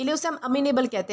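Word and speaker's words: amenable: तो दोस्तों आज का हमारा सबसे पहला वर्ड आता है अमीनेबल। दोस्तों, इसे अमेनेबल प्रोनाउंस किया जाता है जिसका मतलब होता है बात मान लेने वाला व्यक्ति या फिर कोपरेट करने वाला।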